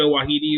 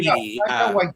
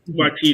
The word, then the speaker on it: Waititi: I can never pronounce it right. Taka Wahidi, whatever his name is. Taika Dave Waititi. Waititi.